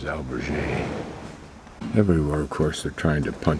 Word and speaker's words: albergue: And I think the better pronunciation is albergue.